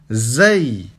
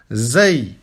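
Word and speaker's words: ز: Ici, vous prononcez comme si c'était un Z, normal. Zay. Zay.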